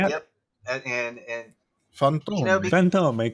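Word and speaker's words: Fantôme: Fantome, kind of a YouTube Italian. You have to. It's French.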